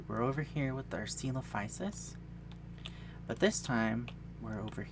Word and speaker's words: Psittacosaurus: It's got a P in front of it. It should be coming up on the screen now. So I like to say Psittacosaurus, but people say Psittacosaurus or Psittacosaurus or something because it has a P, and I like to say it.